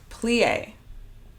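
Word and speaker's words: plié: listens she's going to correct one of my pronunciations and also my translation friend no i think plie is the correct way to say that yes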